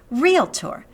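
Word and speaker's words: realtor: can do is try try to pronounce it the right way it is written real tore speak this word correctly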